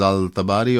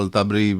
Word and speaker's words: Al-Tabari: probably greatest historical figure was Al-Tabari or Al-Tabri, however you want to pronounce it.